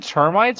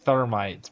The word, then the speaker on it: termites: Is he saying termites or thermites? Cuz it sounds like he's saying thermites, bro. How do you say it? Termites. There's no H.